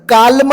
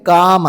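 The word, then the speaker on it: calm: हा शब्द सायलेंट असतो उदाहरणार्थ काम सी ए एल एम याच्यामध्ये एल तर कालम नाहीय ते काम आहे ठीक आहे एल हा सायलेंट आहे हाफ एल सायलेंट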